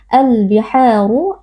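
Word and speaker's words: البِحَارُ: Al biharu alif lam al-qamariyah, karena ada alif lam bertemu dengan salah satu huruf qamariyah yaitu huruf ba. Cara membacanya alif lam dibaca dengan izhar atau dengan jelas. Al-biharu, ha mad tabi'i, karena ada alif yang sebelumnya berharokat fathah dibaca panjang 2 harokat.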